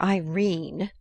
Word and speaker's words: Irene: Edith Wharton a coward my daughter Irene said Mrs karstyle she made it rhyme with Tene has had no social